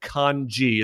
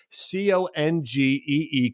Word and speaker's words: congee: They actually called it congee. It's spelled C-O-N-G-E-E, congee.